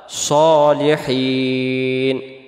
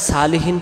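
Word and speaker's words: صالحين: উপরে, ইবাদিল্লাহিস আল্লাহর বান্দার, সলিহিন নেককার বা সৎ, সলিহিন শব্দের অর্থ হলো নেককার বা সৎ। তাহলে এটাকে আমরা সালিহিন পড়ব না, উচ্চারণ করব কি আমরা সলিহিন, আবার হিন টান দিব।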